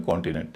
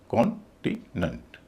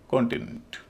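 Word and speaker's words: continent: यानी दूसरे सिलेबल का उच्चारण होगा इ और तीसरे का होगा अ। तो इसको बोला जाएगा कॉन्टिनेंट। कॉन्टिनेंट।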